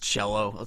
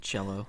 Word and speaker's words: Cello: to make sure yeah it's just cello it's like the instrument cello okay no well I